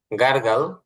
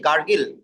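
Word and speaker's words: gargle: ভাই করে ওটা কি গারগিল হ্যা গার্গল গার্গিল গারগিল না বলে গারগাল কলি করা গারগাল কলি করা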